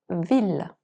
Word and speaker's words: ville: En règle générale, le double L après A, E, O, U et Y se prononcent comme un L, comme dans ville.